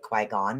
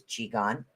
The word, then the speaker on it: Qigong: something as known as, most people call it Qui-Gon, but it's Qigong, is the way that it's actually pronounced.